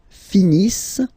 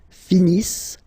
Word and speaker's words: finissent: Ils finissent. So remember, as usual, when we get the verbs E-N-T not pronounced. Ils finissent.